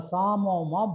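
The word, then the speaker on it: psammoma: So this is called a Samoma body. P is silent.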